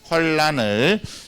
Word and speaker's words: 환난: 환란이라고 읽으면 돼요. 환란을.